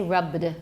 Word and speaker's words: rubbed: We don't say rubbed, rubbed. There's not going to be a schwa there, rubbed.